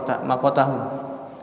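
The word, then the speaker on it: مقتهم: Wa makatahum, makata ya, makota bacanya makotahum, dan telah membenci mereka.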